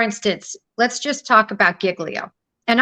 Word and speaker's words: Giglio: let's just talk about Giglio and I pronounce it Giglio I've heard other people say jiggly I pronounce that Giglio they're siglio anyway we always call it Giglio I don't know if